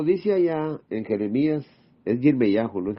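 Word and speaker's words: ירמיהו: Por eso cuando dice allá en Jeremías, es Yirmeyahu, no es Jeremías.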